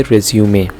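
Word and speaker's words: résumé: बहुत सारे लोग इसको मिस प्रोनाउंस करते हैं लेकिन हम इसको कहेंगे रिज्यूमे।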